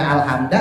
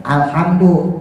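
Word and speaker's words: الحمد: nih ya kalau yang ijma ulama sepakat alhamdu enggak boleh dibaca alhamda enggak boleh Dibaca alhamdi tapi ada beberapa ulama yang mengatakan boleh dibaca alhamdi boleh dibaca alhamda itu tapi tidak termasuk qiraah Sabah Jadi bukan khilafiah di qiraah Sab'ah disepakati ulama qiraah Sabah bahwa alhamdu itu harus didoma gitu ya Wa Adapun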